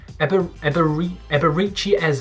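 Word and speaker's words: Eberechi Eze: please don't correct me eberichi eze i think that's how you say it absolutely top-notch player cost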